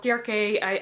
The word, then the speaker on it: Circe: It's about Circe, or Kirke, as I sometimes called her. Like, that's how I was taught to pronounce it at Greek in high school, but whatever. I'm just going to call it Circe because that's probably easier within like English videos.